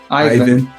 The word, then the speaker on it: Ivan: I don't even know where you are in the world. Um, am I pronouncing your name correctly? Do you pronounce it Ivan or even? Ivan.